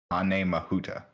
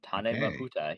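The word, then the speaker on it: Tāne Mahuta: Apparently is pronounced Tane Mahuta. There you go. Uh Tane Mahuta.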